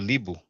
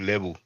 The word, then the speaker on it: Libu: Funny thing is that here you have a Libu. Some people may pronounce it Lebu.